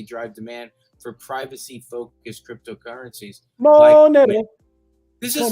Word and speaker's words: Monero: Do I have to pronounce it like that? It's Monero, yes.